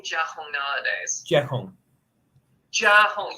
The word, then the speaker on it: Jia Hong: I go by my Chinese name Jia Hong nowadays. Jia Hong. Jia Hong. You almost got it. Thank you. So the Jia rhymes with cat, and the Hong is basically like cat home, essentially. Jia Hong.